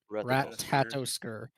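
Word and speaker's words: Ratatoskr: the rat rat I can't pronounce this Rat tatosker.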